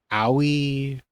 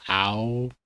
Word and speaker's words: Aoi: Aoi or Ow, it's AOI, so I'm pronouncing Aoi.